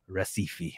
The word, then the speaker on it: Recife: my wife is from Recife what is how do you pronounce it yeah that's an R yeah because ours in Portuguese make a age sound wow um she couldn't